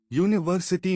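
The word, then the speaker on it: university: यूनिवर्सिटी में यू है लेकिन यो साउंड है जो कसोनेंट है इसलिए अ यूनिवर्सिटी आर में एच है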